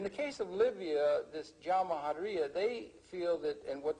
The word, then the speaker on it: Jamahiriya: You'll hear Colonel Gaddafi talk about the Jamahiriya, pronounced Jamahiriya, which roughly translates, an Arabic term, which roughly translates out the state of the masses.